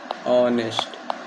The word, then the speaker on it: honest: जैसे ऑनेस्ट, pronunciation करेंगे, ये होगा ऑनेस्ट।